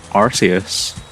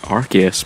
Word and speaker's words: Arceus: Arceus. Or should I say Arceus, because it's not pronounced Arceus. And I don't know why. Is it because it sounds like arse when you say it?